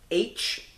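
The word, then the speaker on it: Aech: We get H, and it's kind of funny how H's name is spelled on there. It's A-E-C-H, like phonetically spelling the letter H, which is kind of funny.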